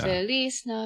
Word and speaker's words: Feliz Navidad: Feliz Navidad. Feliz Navidad. That song? Yeah, Oh, yeah, that song. shit. Your pronunciation is spot on for the one that